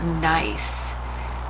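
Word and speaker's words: gneiss: and you'll get what we call nice it begins with the g we'll get the spelling of it here in just a second but this is um it is a very nice rock but that is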